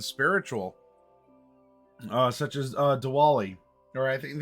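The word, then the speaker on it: Diwali: uh such as uh dwali or I think it's more of a it's spelled with a W but I think has a little bit more of a v pronunciation sorry if I mispronounce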